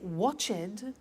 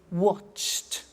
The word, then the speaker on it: watched: t we don't say watch it we eliminate the e and we say watched okay interesting hey so